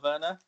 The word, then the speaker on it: Werner: Just that my club Chelsea have signed Timo Werner from RP Leipzig.